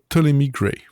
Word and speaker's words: Ptolemy Gray: The Last Days of Ptolemy Gray. Oh, c'est bien prononcé.